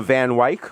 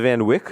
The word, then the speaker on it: Van Wyck: lot and in the van Wyk or the Van Wyck yeah depending on how rich you are how you pronounce it WIC I save in bike